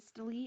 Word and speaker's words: systole: about contraction we're going to use the word staley or systole it's been pronounced both ways and anytime you we